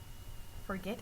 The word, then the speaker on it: forget: and complete the practice forget prefer travel develop forget prefer travel develop now check your work forget and prefer the last syllable second syllable is the stress syllable in the word for